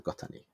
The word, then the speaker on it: Gota2: So it's spelled Gota2, but 2 in Japanese is ni. Yeah. So Gotani.